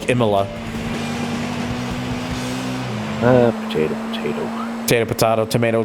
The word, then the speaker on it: Imola: oops I like how I just pronounced that as Imola it's it's when it's meant to be more like emila uh potato potato potato